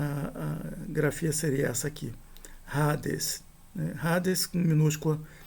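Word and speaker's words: ᾍδης: E a gente não pronuncia de fato o iota, a gente pronuncia rades e não raides, né? Então aqui eh é como se o iota inexistisse.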